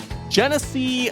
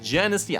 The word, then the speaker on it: Genesee: It's pronounced like or looks like Tennessee just spelled with a G instead of a t anyway we got some